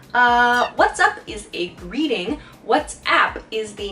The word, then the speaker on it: WhatsApp: words in this case what's app sounds like what's up but what's app is